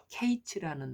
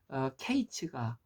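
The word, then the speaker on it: קיץ: 생각하기 쉽지 않습니까 그런데 과일이 히브리어로는 케이츠라는 말인데 내 백성의 끝이 이르렀다 이르렀다 끝이 이르렀다는 것은 캣츠라고 말을 한다고 합니다 그래서 케이츠 캣츠 발음이 비슷한 워드 플레이를 하고 있습니다 그러니까 드러날 말은 여름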